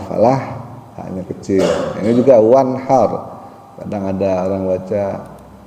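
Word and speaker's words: وانحر: ta pakainya fasholli lirabbika wanhar nah ini wanhar wanhar atau wanhar wanhar kecil ya jadi ha kecil ada ada Ha Ada Ha kadang kalau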